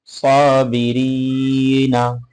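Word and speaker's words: صابرين: ইয়া নুন জবর না সবিরিনা উচ্চারণটা হবে সবিরিন সাবিরিন মাশাল্লাহ এবার বদ দিয়ে গটা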